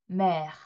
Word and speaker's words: mer: mer, mer. 자, mer하고 살짝 공기를 바깥으로 빼주시면 되는 거예요. 그것도 너무 오버해서 mer 이런 식으로 하지 않습니다.